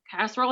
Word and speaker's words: casserole: Casserole has 3 syllables.